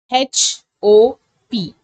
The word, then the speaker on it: hop: Next is your three letter H, O, P. Or P. If it is a three-letter word, you have to pronounce it as hop.